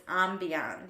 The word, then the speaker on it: ambiance: Tom Schwartz was just incorrect. Yeah. It's ambiance. Yeah. That one's just a mispronunciation.